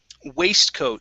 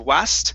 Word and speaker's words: waistcoat: um next up is waistcoat so right here this vowel is going to be a long a sound instead of wast it's way way waistcoat very good um this